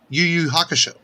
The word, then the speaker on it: YuYu Hakusho: live action version of one piece and uh yuyu hakusho that's how you say it very popular anime